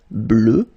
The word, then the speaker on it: bleue: Okay, phonetically it doesn't exist because you don't pronounce it, so you get bleu as you would get for the masculine form.